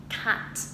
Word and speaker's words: cat: ta không đọc là cat đúng không, hoặc là không đọc là cat nhỏ như thế, mà chúng ta sẽ mở rộng miệng ra một chút, cat.